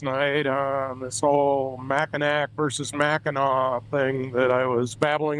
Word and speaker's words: Mackinac: Then the French came along and they sharpened it up to what looks like Mackinac but the C at the end is silent in French pronunciation so it's Mackinaw.